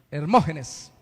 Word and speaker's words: Hermógenes: Y Hermógenes, ese sí tiene tilde en la O, ¿no? Hermógenes.